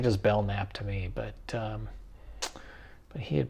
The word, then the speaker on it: Belknap: all these things, but it seems odd to pronounce that K to me. It seems like just Belknap to me, but he had pronounced it Belknap, so I'm going with that.